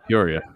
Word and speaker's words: Peoria: So this guy in Peoria, Illinois. Is that how you pronounce that? Yeah, Peoria.